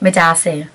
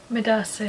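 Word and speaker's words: medaase: Me dasi. Midasi. Yeah, and then some people say midawo asi, like I thank you.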